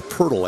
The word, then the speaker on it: Poeltl: Or Poeltl, I think is how they pronounce that in Austria.